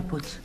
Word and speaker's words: Puig: Se pronuncia Puig. Señora, aquí pone Puig y se lee como se escribe. Si quiere que ponga Puig, lo pongo con CH.